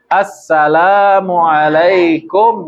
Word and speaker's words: assalamualaikum: idealnya begitu idealnya begitu minimal dua harakat Nih assalamualaikum warahmatullah bagus tuh sudah sempurna tuh ya gak berama Gak lah pokoknya sempurna itu baik Terkadang ada orang meninggalkan alif lam jadi bacanya assalamualaikum warahmatullah salah tidak sah tidak sah Salamualaikum Salamualaikum